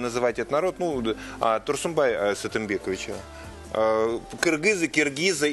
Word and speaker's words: кыргызы: я и хотел это уточнить, потому что мы привыкли произносить киргизы, но я вот смотрю и в именах, и в каких-то названиях, в основном буква «ы», самая любимая буква кыргызского языка.